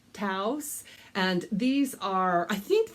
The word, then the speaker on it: Taos: do like to sell the brand is taos we have a taos a city in new mexico so that is the way i pronounce it taos and these are i